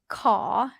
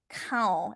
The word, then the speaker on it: ขอ: It's not cow. It's not core. I don't like using karaoke like English like KOR. Yeah, because a lot of times you might pronounce it as rhotic R, like American R.